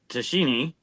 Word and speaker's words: Tassini: I mean, it's Tashini and then.